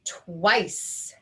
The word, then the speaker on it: twice: work this word out while we have a vowel consonant silent e pattern you can see the